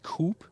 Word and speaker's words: Coupé: grille, whereas the GLE Coupe or Coupé, we always say Coupé because we lean to the French original pronunciation.